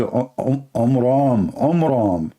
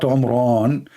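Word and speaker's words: Amram: So it's the father of Moses, his name is Omram, not Omran.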